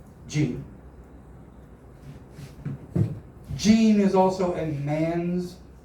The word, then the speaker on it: Jean: Jean is also a man's name, but it's spelled differently. So, how do you say that in French? In French, that is pronounced Jean. Jean.